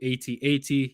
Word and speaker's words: AT-AT: This is the AT-AT.